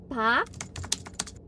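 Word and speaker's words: 박: kalau bahasa Korea tulisannya begini Hai Nah itu dibacanya Pak Pak misalnya hak sojun gitu jadi bukannya pak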